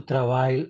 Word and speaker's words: travail: Je viens demain parce que il reste du travail à finir. Oui, du travail. Travail. La L no se pronuncia.